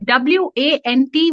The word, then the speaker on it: want: okay okay okay so the a in those letters in those words is pronounced as o now the best way